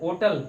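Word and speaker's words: hotel: ओटल, होटल नहीं, ओटल पढ़ा जाता है। क्या पढ़ा जाता है? ओटल, ओटल पढ़ा जाता है, नॉट होटल, नॉट होटल, ध्यान रखिएगा।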